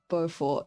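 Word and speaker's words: Beaufort: I forgot how to pronounce it's Bowfort, not Bow, bro.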